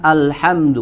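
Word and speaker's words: الحمد: Ya, yang pertama adalah alhamdu wa hamzah alhamdu. Pada kata hamzah di lafaz alhamdu. Ya, di sini hati-hati. Maka huruf hamzah pastikan kita membacanya dengan bacaan yang tipis.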